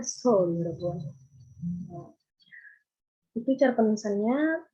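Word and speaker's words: 서울: Ini memang romanisasinya EO, tapi teman-teman bacanya bukan EO. Contohnya dalam kata soul, teman-teman kalau yang belum paham Hangul pasti bacanya seo, tapi itu harusnya dibacanya soul, ya Bu.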